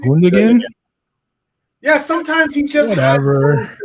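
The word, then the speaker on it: Gündoğan: It's Gudigan. Don't say Foden. No, I said Icky. Not Grealish. Yeah, Gudigan. Is that how you say his name? Gundogan?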